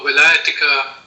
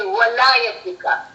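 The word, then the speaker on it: ولايتك: So one of the friends asking, what is the meaning of Wilayatika in the Tasbih of Nadi Ali? Okay. Actually, we are mispronouncing it. It should be walayatika.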